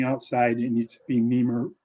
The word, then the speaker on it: NEMA: you need to be neemer rated for exterior use not interiors okay neem is spelled n-e-m-a correct right the national